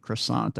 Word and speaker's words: croissant: I don't even do the French version of croissant I just say croissant no yeah yeah it